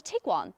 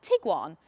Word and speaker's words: Tiguan: Volkswagen like to make a habit of producing cars with hard to pronounce names. You've got the Tiguan, the Touareg and the Arteon.